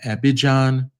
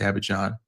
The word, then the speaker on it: Abidjan: Air France economy would be between Europe and Abidjan, I think it's pronounced Abidjan, Riyadh, and Johannesburg.